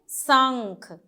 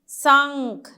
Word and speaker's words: शंख: फिर देखिए सन, सा के ऊपर लगा हुआ है तो क्या पढ़ेंगे? शंख। शंख, नौ से आवाज आएगी, शंख।